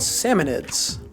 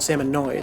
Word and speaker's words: Salmonids: They're called Salmonids, which is really weird because you look at their name and you immediately assume they're called Salmonoids, but they're actually salmon.